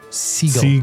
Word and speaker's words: Segel: Seagal. Segal. I'm saying gull. I know you're saying gull and I'm telling you that's not right. Segal.